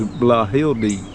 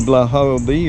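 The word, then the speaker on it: Blauhilde: actually from Germany and the best as I can pronounce it is blah he'll be I think it's BL au h IL de and we got that seed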